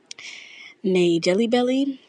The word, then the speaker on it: NaeJellieBellie: If you haven't seen my TikTok, which is called Nay Jelly Belly, it is spelled NAEJELLIEBELLIE.